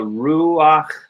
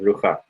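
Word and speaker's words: רוח: This only happens with the patach, and it only happens with the chet. So we say ruach instead of rucha.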